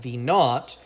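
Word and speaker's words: v₀: give this a name we can go ahead and call that v sub zero which just is pronounced v naught and that's just the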